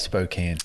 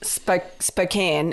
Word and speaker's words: Spokane: But Spokane. Spokane.